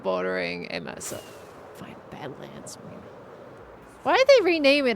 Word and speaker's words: Badlands: Even though it's the wrong pronunciation, I keep on lifting my head. I still go by the old words for it, to be honest. I know it's Badlands, but I just say Mesa.